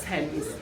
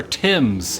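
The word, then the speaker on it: Thames: I have a local tell me how you pronounce this River it's the river Tims the river Tims Tims this is definitely a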